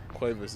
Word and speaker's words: Cuevas: how do you pronounce that name? Am I saying it right? Cuevas. Yeah, you said it right.